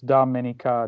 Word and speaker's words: Dominica: but the Oh after the D is is pronounced with an A so it's Dominica Domini comes and not confused with the Dominican